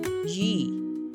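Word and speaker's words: 鱼: Because fish in Chinese is pronounced Yi, which sounds like the word for abundance.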